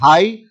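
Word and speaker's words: high: word है date इस हाई हाई में ग जो है वो साइलेंट रहेगा और हाई का मतलब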